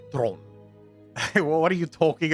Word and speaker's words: Theron: Did I just get triggered when people say Theron? It's like, bro, come on, please. You're from South Africa. It's Tron.